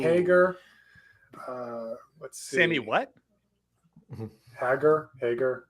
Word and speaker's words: Hagar: uh let's see what hagger Hager how do you say his name it's Hagar it's Hagar you know it's